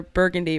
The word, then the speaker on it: Burgundy: So there's one that's spelled the same way you would spell the color burgundy, but it's pronounced Burgundy.